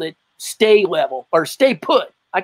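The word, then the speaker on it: Sta-Level: And he always used that Is it sta level? Stay level? How do you say it? S T A Stay level, yeah. Stay level. Okay, stay level.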